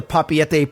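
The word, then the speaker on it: Papeete: at things like the papete pay Bay Veranda cuz I called it papit and I got yelled at so now I probably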